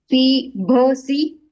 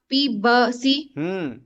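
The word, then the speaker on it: पिबसि: पीभसी, भ नहीं ब, पीबसी।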